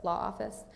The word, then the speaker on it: LA Office: is an acronym um LA office or pronounced law office um here's a photo